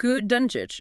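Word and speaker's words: Dončić: And we have to start with the man leading the league in scoring, Luc Donic, pronounced Luc Dunic, now wearing the purple and gold.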